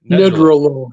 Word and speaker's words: Nedrelo: So, I was hoping maybe you could and first know how to pronounce your last name. Sure. It's neolo. Needralo.